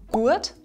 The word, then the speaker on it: guad: “Guad” simply means “good”. For example, instead of saying "good weather" we say: "guads Wetta" or "good idea" becomes "good idea". So you see that the "U" becomes a diphtong, namely "ua". This also happens with "Tuch",